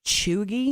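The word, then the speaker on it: cheugy: term for things that are unfashionable or outdated chugi chugi like oh that's so chewy that vest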